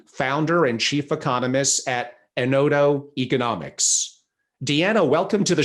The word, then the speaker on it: Enodo: on pronouncing my surname correctly but also on pronouncing a nodo believe it or not about 50 percent of of people say endo and i'm really tempted to ask our branding